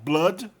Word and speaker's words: blood: Blood, ele é pronunciado como blood, sangue.